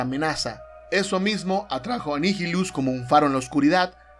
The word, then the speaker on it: Nihilus: Tengo entendido que su nombre se pronuncia correctamente como Darth Nihilus, pero sería bastante complicado llamarlo así el resto del video, así que continuaré llamándolo simplemente Nihilus.